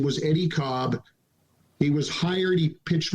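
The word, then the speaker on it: Kolb: you look under any cob by the way spelled k-o-l-b pronounced cobb his earned run average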